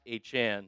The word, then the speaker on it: Etienne: Full disclosure, I did not know that Travis Etienne pronounced his name as Travis Achan.